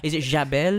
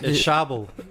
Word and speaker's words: Chable: Is it Jabel? It's Chable. Chable. You know, it is actually a French name, but we pronounce it Chable.